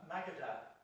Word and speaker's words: Magadha: only in a small Magadha, that's the right pronunciation. Yeah, Magadha.